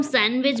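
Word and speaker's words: sandwich: डी, क्योंकि इसको हम सैंडविच बोलते हैं।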